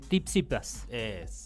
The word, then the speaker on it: Tsitsipas: ¿Cómo se pronuncia? Tsitsipas.